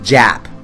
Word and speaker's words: JP: Actually, it's pronounced Jap, like the Gap.